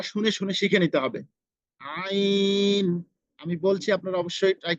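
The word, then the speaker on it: ع: প্রথমত আগে উচ্চারণটা শুনে শুনে শিখে নিতে হবে। আইন, আমি বলছি আপনারা অবশ্যই ট্রাই করবেন। আইন আইন আইন।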